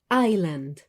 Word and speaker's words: island: la misma vocal comencemos con la palabra island isla aquí la s no se pronuncia para que lo recuerden